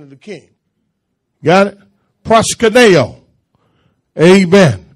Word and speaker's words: proskuneo: Proskuneo. Amen. P-R-O-S-K-U-N-E-O. Proskuneo. That's how it's pronounced in the Greek.